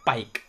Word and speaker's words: Pique: Pero se pronuncia Pike.